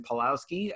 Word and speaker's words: Paulowski: are we all right this is how you say my last name my name is paulowski palowski um is fine in